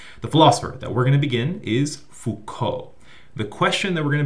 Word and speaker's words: Foucault: is Foucault.